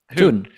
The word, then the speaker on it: Thun: Is it Fun? Is that how you say it? How do you say it? Thun. Oh, Thun.